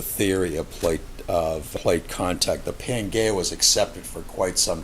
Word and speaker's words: Pangaea: He published a hypothesis which is basically called Pangaea, and that is spelled P-A-N-G-A-E-A.